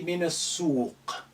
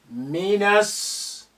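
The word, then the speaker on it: من السوق: The alif is silent because it's not at the beginning of a sentence. The lam is silent because of sin is a sun letter which is carrying shadda. So we linked na to and with the first sin which is hiding there with shadda, minas suq.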